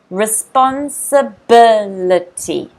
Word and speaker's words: Responsibility: Notice the stress is on the third syllable. Fourth syllable. Responsibility.